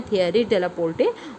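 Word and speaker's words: Thierry Delaporte: शायद मुझसे प्रोनाउंसिएशन में थोड़ी सी गलती हो रही है, शायद ये थियरी डेलापोर्टे है। मैंने अभी प्रोनाउंसिएशन कन्फ्यूजन था। नाम है थियरी डेलापोर्टे, और ये हैं विप्रो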